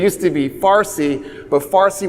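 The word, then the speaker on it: Fārsī: to be Farsi but Farsi was the Arabic attempt to pronounce Persian because there's no PA in Arabic they just made it affa so the so the so the Persians now have said no no we have PA and so they brought the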